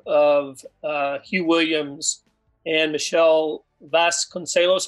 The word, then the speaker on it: Vasconcelos: Hugh Williams and Michelle Vasconcelos. Am I pronouncing her last name right? Vasconcelos? Yeah. Spot on.